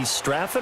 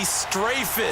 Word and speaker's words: Strafen: It was held in mid-December, and your winner I.B. Straffen, or is it I.B. Strafen? You've got the pronunciation guide. I.B. Strafen. Strafen. My bad, Mr. Strafen.